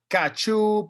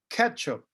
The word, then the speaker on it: ketchup: know sometimes in spanish people like to say kachoop or things like that the correct pronunciation is ketchup number 12 lemons lemons number 13 lettuce lettuce